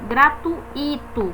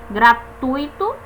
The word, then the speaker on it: gratuito: gratuito atenção essa palavra Muitas pessoas dizem gratuito como se fosse um hiato mas não é é um ditongo esse ui esse ficam juntos gratuito é um ditongo fica junto na mesma sílaba Leite ditongo fica junto